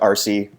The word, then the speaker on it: ARCE: Egypt, or ARCE, or usually pronounced RC, with parenthetical apologies to any speakers of British English.